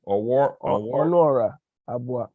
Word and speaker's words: Onuora Abuah: How you pronounce the name? Onuora Abuah.